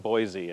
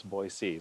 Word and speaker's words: Boise: and Boise they which I learned how to pronounce correctly it was I was saying Boise and everyone correct me it's Boise so now I know how to say it